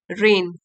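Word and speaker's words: reign: During her रेन, during her रेन, उनकी सत्ता के दौरान, रेन जी साइलेंट है, उनकी सत्ता के दौरान Mewar faced a significant threat from Bahadur Shah.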